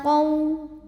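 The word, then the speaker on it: قَوْ: Ila qaw. Ada harfulin. Sebab ada waw sukun didahului baris fathah. Maka dibacanya cukup dilembutkan atau dilunakkan. Bibir kita ngumpul seperti mau bilang waw seperti biasa ya. Qaw tuh Q-O-W ya.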